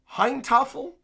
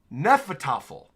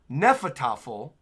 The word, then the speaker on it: Hnefatafl: Heintafel? How to say... Okay, it's pronounced... Oh, wow, I was completely wrong. It's pronounced Nefatafel. Nefatafel, with the H being silent.